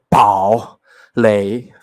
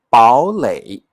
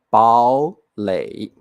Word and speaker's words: 堡垒: ，变调音 3 加 3 会变成 2 加 3 哦。好，我再念一次哦。你不要念堡垒，very hard to pronounce，